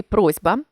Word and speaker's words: просьба: один до одного наприклад у слові просьба пишеться літера с а вимовляється звук з про уподібнення я розповідала